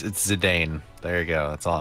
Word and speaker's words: Zidane: Zidane versus Kuja. That's another thing. Zidane is Wait, Zidane? yeah. That's the What? official pronunciation is Zidane. Like Oh my Zinedine God. Zidane from the French Dude, soccer player.